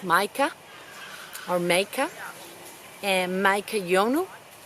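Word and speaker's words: Matjkas: They're called Maika, spelled M-A-T-J-K-A-S, pronounced Maika or Maika, and Maika Yonu.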